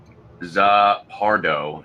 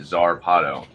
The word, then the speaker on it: Zarpado: I kept calling it Zarpardo instead of Zarpado.